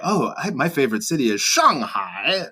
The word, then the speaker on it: Shanghai: Because, it's like, the proper way to say is Shanghai. Right. But, if you're around like other foreigners or people who are not speaking Chinese, you feel almost like obligated to say Shanghai.